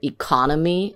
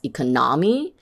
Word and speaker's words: economy: For example, if you say the word economy as economy, it sounds strange.